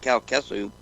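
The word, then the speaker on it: Calcasieu: here Cal tesu Parrish I guess I tell you pronounce it Cal kesu okay CA LCAs ie you sounds right Jean Lafitte the pirate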